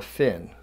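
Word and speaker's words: phin: coffee you would use this filter called a fin some people have called it a pin where the H is silent but most of the people I know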